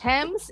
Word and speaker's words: Thames: Sometimes the H is silent in TH, such as Thailand, time, asthma, commerce, Thames ini and the Thames, as in the river in sungai London.